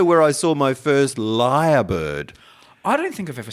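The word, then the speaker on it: lyrebird: i was really young because it's spelt l-y-r-e isn't at the liar bird right so yes it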